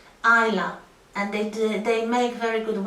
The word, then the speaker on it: Islay: It's not pronounced Islay.